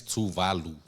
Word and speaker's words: Tuvalu: and I'm glad that Touvalu is becoming a focus. Uh it's touvalu touvalu for everyone. We need to make sure we know our pronunciation.